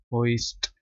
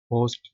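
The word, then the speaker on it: hoist: बुलंद किया लिफ्ट रे होइस्ट इसको आपने होस्ट पढ़ना है ठीक है होस्ट नहीं पढ़ना आई साइलेंट नहीं है होस्ट उठाना बुलंद करना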